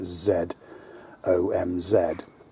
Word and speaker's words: ЗОМЗ: I guess that's how you pronounce it, ZOMZ. What in Russian, a Z's more like a 3 anyway.